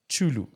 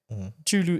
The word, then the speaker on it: Chulu: We could have used CH. For instance, my surname, Chulu, right? Chulu is CHU. I mean, CHULU. Then you find in another part of Zambia, Chulu is also TSHU.